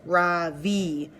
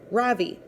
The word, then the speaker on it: Ravi: first name is Ravi it's pronounced Ravi with a soft raw in a strong V and sand skirt it means the Sun in America people call me Ravi with the stress on the first syllable that doesn't mean anything